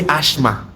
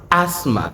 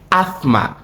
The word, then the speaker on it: asthma: Hope you didn't say ashma. No, it's pronounced asthma. So, you either do not sound the th and just sound the s as in asthma or you sound it asma combining the s and the th pronunciation.